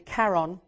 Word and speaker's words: Charon: What's interesting about this is how the moon got named, because Charon is actually Charon, who is the Greek mythological figure who takes the souls of the dead across the river.